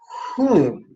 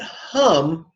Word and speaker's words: Hum: So the syllable is whom. Now some people look at that and pronounce it hum, but it's whom. Just like the word, if you see in brackets, whom.